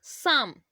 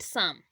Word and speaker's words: psalm: At first, we should know psalm. You can see that here P is silent letter. We can call it psalm.